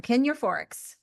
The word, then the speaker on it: Kin Euphorics: Kin Euphorics.